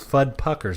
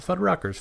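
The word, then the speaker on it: Fudpucker's: uh which is uh I think fud puckers not fud Ruckers fud puckers which is they have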